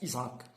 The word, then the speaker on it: Ishaq: Bon, Ishaq, bon, les Français le prononcent Isaac.